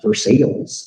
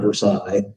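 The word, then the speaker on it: Versailles: the way the name of this town is pronounced verses that's how they say it Kentucky not verside like in France um so the dates down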